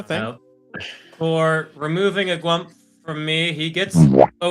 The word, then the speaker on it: gwump: from several different inferior gwumps. Yeah, inferior gwumps. And the proper spelling for people who want to know, according to me, is G-W-U-M-P. It's gwump, like stump. It rhymes with stump.